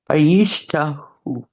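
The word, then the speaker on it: וַיִּשְׁתַּחוּ: So we've got vai, yish. The next one is ha. And the last one is hu. Vayish. Vayishtahu.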